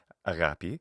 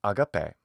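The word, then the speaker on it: ἀγάπη: Pronunciation-wise, because in ancient Greek pronunciation, say the classical Attic pronunciation, the pronunciation that Alexander the Great would have learned studying with his teacher Aristotle, an Athenian philosopher, that pronunciation is agape.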